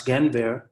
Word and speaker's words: Guenveur: But most people don't know how to pronounce Guenveur.